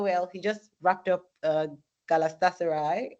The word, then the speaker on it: Galatasaray: Oh well, he just wrapped up Galatasaray, right? That's the pronunciation.